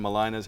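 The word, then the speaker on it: Mulino: Malina's halfway, but am I saying that right? You Malina? are saying it right. I Nice. thought so. I've lived here a long time, but I just want to be sure.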